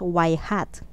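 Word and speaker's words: ŷ: So, by convention, ginagamit natin ang symbol na y, parang may arrow dun sa taas niya, at pinopronounce natin yan as y hat in place of y in the equation of a least square line.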